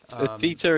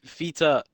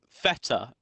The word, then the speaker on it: feta: getting out of it feter is is a angle unit for the angle no it's so feta no because it's feta is what it is pronunciation is